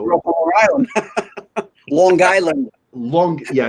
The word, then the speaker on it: Long Island: Long Island. Yeah, you overpronounce that G. Get that hard G, that Long Island.